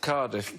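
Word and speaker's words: Cádiz: Cadiz Wasn't Cadiz is pronounced Cardiff, by the way. Cadiz. If you say Cardiff, you're much closer to Cardiff. the way the Spanish say it, as I've found out.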